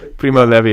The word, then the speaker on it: Primo Levi: so you're probably right dallas is not like the blue jean it's probably not levi okay probably primo levi uh but he says